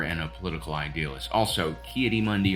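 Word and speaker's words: Ki-Adi-Mundi: a political idealist also K Mundy rhymes with crocodile dunde PO for thought but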